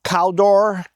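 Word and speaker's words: Kaldur: The northern kingdom is called Caldor.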